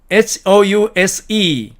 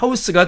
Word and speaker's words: house: 다음에 C번 house 이렇게 철자한 이 단어는 명사로서 집이라고 쓰일 때는 house가 되지만 동사로 집을 주다, 즉 주거를 제공하다라는 의미로 쓰일 때는 house가 아니라 house가 된다는 거죠.